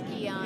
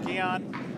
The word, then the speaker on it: Gian: Gian Grosby, I'm not sure how you pronounce that name. It's Gian. It's Gian.